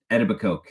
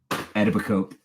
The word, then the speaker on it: Etobicoke: And in the documentary, they kept calling it Etobicoke. Etobicoke, Etobicoke, Etobicoke. It's like Etobicoke. I get it. That's how it's spelled. But do your research, guys. Etobicoke. There you go.